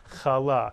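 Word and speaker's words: חלה: is in satic Hebrew the accent would be on the second syllable kala many people say kala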